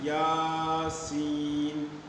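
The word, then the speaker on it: يس: طرح سے پڑھنا ہے۔ تو لکھا ہوا یہاں پر ایک حرف ہے لیکن اس کو کھینچ کر کے پڑھیں گے، اس طرح سے یاسین، طٰ، طاسین، الف لام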